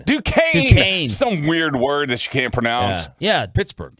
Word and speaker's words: Duquesne: I believe it's, I can't even pronounce the name. Duquesne? Duquesne.